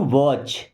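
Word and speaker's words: watch: Okay, I हैड टू वॉच, देखिए यहाँ पे टी साइलेंट है, इसी वॉच का मतलब घड़ी भी होता है और इसी वॉच का मतलब देखना भी होता है।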